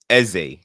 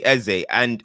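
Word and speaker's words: Eze: I say EZ and most people I know say EZ, but then there's just been this random like surge of Eza. And I'm like, when did this come? I don't know where it came from, but I've said EZ. I know people that know him that say EZ. So, I don't understand where Eza come from, but apparently he said that.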